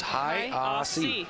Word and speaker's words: Hajosy: Way to stay composed as Hajosy's coming forward. Am I saying his name right? I mean, I've got it down as Hajosy. Yeah. I mean, he told me it's Hajosy.